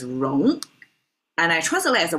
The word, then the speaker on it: 戎: Here it's pronounced as wrong and I translate as a weapons because really it's made of two parts.